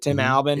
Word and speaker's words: Tim Albin: But 1-4 team, head coach Tim Albin, I think that's how you say it, Tim Albin. It is.